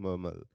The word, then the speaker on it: Malawi: Malawi.